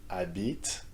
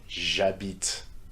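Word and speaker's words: j'habite: Instead of saying a bit, the pronunciation is east as jabit.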